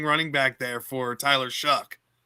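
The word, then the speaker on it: Shough: Lemon drafting pronounced sounds like Shuck to me, but it's Shuck.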